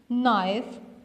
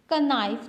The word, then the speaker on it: knife: वो जो नाइफ आप किचन में यूज़ करते हैं, स्पेलिंग्स हैं KNIFE. आप इसको क्या प्रोनाउंस करते हैं? नाइफ. का नाइफ तो नहीं बोलते ना, आप तो नाइफ कहते हैं.